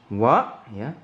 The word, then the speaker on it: は: Di sini kita punya "nani wa". "Wa" di sini bertindak sebagai partikel. Ingat, bukan 'h', tapi 'wa'.